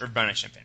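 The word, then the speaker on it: Urbana-Champaign: champ CH is that how you say it Urbana champagne Urbana champagne yes Urbana champagne okay with a BS in Psychology and you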